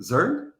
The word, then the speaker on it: Zurn: Pronunciei seu nome corretamente? Zurn?